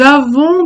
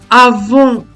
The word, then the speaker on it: avons: Dans les mots avons et sortons, première personne du pluriel des verbes avoir et sortir au présent de l'indicatif, le son on s'écrit ONS, mais on ne prononce pas la lettre S.